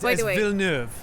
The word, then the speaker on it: Villeneuve: Because it's what's his name, Denis Villeneuve. Right. That's not how you say it. It's by the way. Villeneuve.